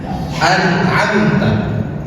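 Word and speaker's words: أنعمت: Contohnya an'amta. Dalam surah Al-Fatihah, an'amta, mim sukun ketemu dengan ta, dibacanya jelas dan tidak ditahan. Ingat, tidak ditahan. Jangan sampai baca an'amta ditahan, itu salah, keliru. Cara bacanya adalah idhar.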